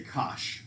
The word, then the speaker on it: cosh: way people say it instead of saying cosine hyperbolic or whatever they just say kosh so just the way it looks right kosh now this one how